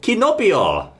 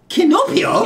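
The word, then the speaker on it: キノピオ: good so his name in Japan is actually kinopio kinopio kinopio it sounds like Pinocchio it does sound like pinio Pino no it's got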